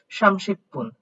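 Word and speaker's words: 삼십 분: আসেন এটার উচ্চারণ তাহলে কি হবে, সামশিপুন, সামশিপুন।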